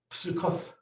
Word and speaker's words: Sukkot: Now we would say Sukkot, Or but going back to the older pronunciations, this would be a PS sound. And this would be a TH sound. So this would be pronounced Psukoth. Psukoth. Right, not Sukkot, right?